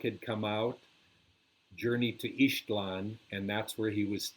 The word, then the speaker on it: Ixtlan: of the book, Journey to Ixtlan, but it's pronounced Ishtlan.